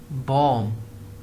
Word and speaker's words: bomb: If we had an M before B, then we do not pronounce the B.